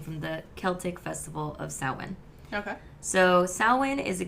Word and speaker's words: Samhain: you mentioned and also we are saying it's sawin cuz uh that is how it's pronounced it's spelled like Sam ha yeah s